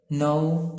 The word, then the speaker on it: know: let ما بتتغيرش تبقى let، know تبقى new والK برضو ما بتتنطقش silent، sit down وهنا sat down.